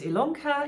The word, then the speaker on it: Ilonka: ilanka my name is ilonka yes it's spelled with an i but pronounced with an e and you are here